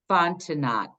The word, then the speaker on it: Fontenot: Okay, so her first name is Etta, E-T-T-A, and last name Fontenot. I'm pronouncing it phonetically.